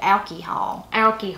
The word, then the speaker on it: alcohol: They said alky-hall. Alky-hall.